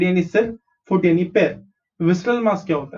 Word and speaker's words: visceral: Okay, जो कुछ भी अंदर होगा उसको हम visceral material बोलेंगे. How do you pronounce it? V is vis, C is sir, R is ral.